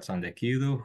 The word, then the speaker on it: Tsantekidou: back at Kracken postmodernity today we have Sandu who is a campaigner political commentator writer currently